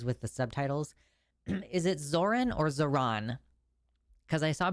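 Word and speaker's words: Zohran: It's Zoran. Okay, that's what I thought. Bernie Sanders said it wrong. Zoran.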